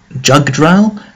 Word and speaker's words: Jugdral: You'll notice here it is called Jugdral. That is, of course, the way the Japanese pronounce Yggdrasil.